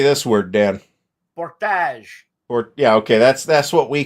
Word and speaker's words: Portage: Portage.